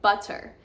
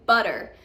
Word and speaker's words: butter: They would say butter. I want some butter with my bread, but not in American English. We say butter. The T is almost pronounced as a D.